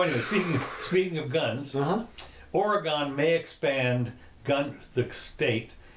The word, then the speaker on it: Oregon: and work on yeah or I should say Oregon that's how they like it pronounced yeah and it's a 44 page proposal